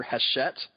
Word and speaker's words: Hachette: And I full disclosure, I thought it was Hatchet the whole time. Okay, well, whatever. It's Hachette. I mean, I've heard other people pronounce it. I know that it's with a soft CH.